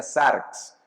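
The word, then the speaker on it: σάρξ: corte específicamente esto es un vocablo que en griego se pronuncia zarx tiene que ver con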